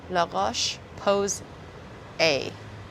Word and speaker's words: La Roche-Posay: It's pronounced It's pronounced Posay. Posay. Gam gam. Posay. La Roche Posay.